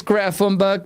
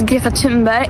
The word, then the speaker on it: Greta Thunberg: My name is Gatimbe and I am from Sweden. Well, firstly, we've all been saying it wrong. I I mean, I know. That's an unsayable sound.